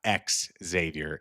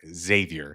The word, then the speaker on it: Xavier: Steve, I apologize, and all Xavier fans, for the mispronunciation of Xavier, not X Xavier. Xavier.